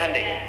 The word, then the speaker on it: Hyundai: Hyundai kan dibacanya Handeai ya kan. Sana Honda, sini Handai gitu.